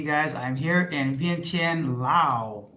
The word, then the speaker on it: Laos: I'm here in Vientiane, Laos, or as locals say, Laos.